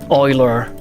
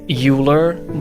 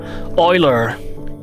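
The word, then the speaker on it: Euler: Oiler. It sounds more right when you when you say um when you pronounce it the way it's spelled, uler. But it's uh it's apparently not the case. Oiler.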